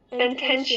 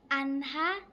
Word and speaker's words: Anha: Antenia. Am I saying it right? No. No. Anha.